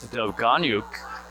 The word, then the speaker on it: Dovganyuk: They provided correct pronunciation. That's Dovganyuk, who's on the ice right now, posted up on the back door.